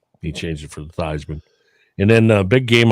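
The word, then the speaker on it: Theismann: Your boy Joe Thyman, remember he changed the pronunciation of his name so it could rhyme with Heisman? Yeah, that's pretty cool. It's Theman.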